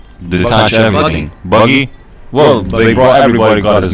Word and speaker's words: Buggy: can Captain Bugsy detach everything? Buggy? Well, everybody got his name wrong in the anime It's fine.